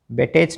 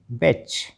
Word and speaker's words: batch: BATCH बेटेच नहीं बैच, MATCH मैच, CATCH कैच।